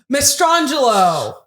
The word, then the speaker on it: Mastrangelo: Mastrangelo.